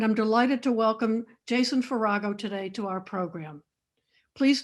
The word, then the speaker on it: Farago: Jason Farago, which rhymes with Chicago, is critic-at-large for the "New York Times" where he writes about art and culture in the US and abroad.